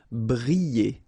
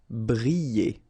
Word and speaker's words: briller: Briller. Alright, so here, I and then double L, so you get the sound y, y, y. Briller. Briller.